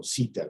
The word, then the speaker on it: CETA: Qui in Canada, grazie al trattato fra l'Unione Europea e Canada, il cosiddetto CETA o SITA, come si pronuncia qui nei paesi anglofoni, abbiamo una piattaforma particolare,